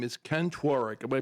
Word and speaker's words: Tworek: His name is Ken Tworek. Am I pronouncing that right, Ken?